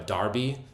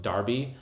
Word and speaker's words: Derby: there is called a Darby it's spelled Derby but it's actually pronounced Darby but like I don't